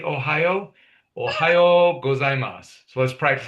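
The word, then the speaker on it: おはよう: In the morning, we say Ohio. That's kind of easy to remember because of the state. Ohio.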